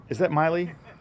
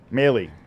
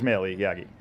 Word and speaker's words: Maley: Is that Miley? Maley. It is Maley Yagi.